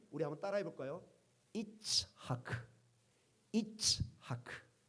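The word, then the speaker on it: יצחק: 이삭. 예. 우리 발음 이삭 좋습니다. 그러나 원래 히브리 발음은 우리 한번 따라해 볼까요? 이츠 하크.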